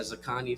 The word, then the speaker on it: XIKANL: You pronounce that Zakani, so that's XIKANL.